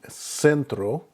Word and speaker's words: centro: When there's an E or an I following the C, then it makes an S sound. An example would be centro, which is center, or ciudad, which is city.